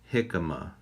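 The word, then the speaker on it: jícama: It's actually pronounced jicama.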